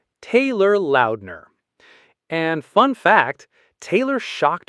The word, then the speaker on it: Taylor Lautner: Taylor Lautner. Tay, lur, loud, ner. Taylor Lautner.